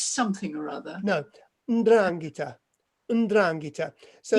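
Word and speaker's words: 'Ndrangheta: No, Ndrangheta. So it's spelled.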